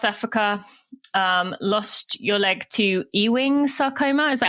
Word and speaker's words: Ewing sarcoma: But born and raised in South Africa, lost your leg to Ewing sarcoma. Is that how you say it? Yeah, Ewing sarcoma.